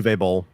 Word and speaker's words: Uwe Boll: Is it U-Bowl or Uwe Boll? Yeah, Uwe Boll.